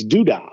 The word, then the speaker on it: Duda: And where that comes from is, you pronounce my last name, it's Duda. So you put that Zipity in front of the Duda, and you've got Zipity Duda Day.